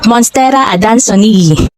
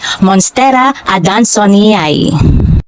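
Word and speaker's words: Monstera adansonii: sa halaman na ito ang sabi ko kasi noon monstera ad danon ang tamang pagbigkas pala ay monstera adonay Napansin ko lang mayroong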